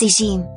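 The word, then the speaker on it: اسم: Alismu is preferably pronounced by the Arabs as ishim, so let's use the word ishim for easier purpose and pronunciation.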